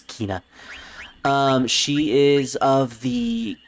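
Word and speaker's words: Quina: you me this is kina or quinna however you like to pronounce it i usually pronounce it as kina um she is of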